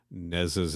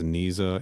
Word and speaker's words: Neza: whoever's taking roll call says Neza's name wrong as Niza and is corrected. And I was like, that does happen. Yeah. Listeners, for the record, she says it's pronounced Nez.